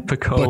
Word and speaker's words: Baconian: Going in, it's kind of like slang, like we're going in, Baconian.